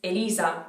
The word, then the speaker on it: Elisa: to the other names the first name is elisa which is actually the name of the very famous singer in italy maybe people would say how they say my name i have no idea let me know how